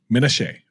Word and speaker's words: Menashe: you say your last name by the way Minnesota okay I would have messed that up completely